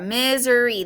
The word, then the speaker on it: Missouri: book but that's what that is right there misery that's a pronunciation guide this right here um whether it's